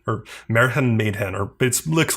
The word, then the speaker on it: Märchen Mädchen: So this is called, I think it's pronounced like Märchen Mädchen or Märchen Mädchen, or it looks like Märchen Mädchen. That's a German pronunciation.